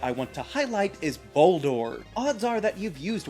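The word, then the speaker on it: Boldore: Because just starting on the name, Bouldor is so multi-layered. Obviously, it sounds like boulder because it's a rock type, but it's also spelled like bold ore, which is another geological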